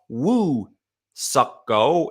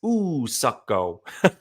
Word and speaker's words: Woo-Suk Go: I didn't catch it at the time, but there's no W in the pronunciation of like woo. It's ooh. So it's not Woo-Suk Go. It's Woo-Suk Go.